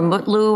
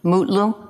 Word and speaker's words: Mutlu: Is it Metlu or Mutlu, or how do you pronounce his last name? Mutlu, Your Honor. Mutlu?